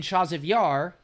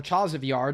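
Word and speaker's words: Chasiv Yar: And then in Chaziv Yar, or Chaziv Yar, depending on how you say it, the Russians had finally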